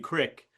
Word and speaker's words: Creek: Uh it should have been Crick and Yes, you're right.